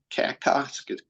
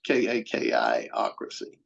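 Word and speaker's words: kakistocracy: We were a combination of oligarchy, a kleptocracy, and a kakostic, which means, the lowest common denominators running things. Right. I Right. mispronounced it, but it's KAKI-ocracy.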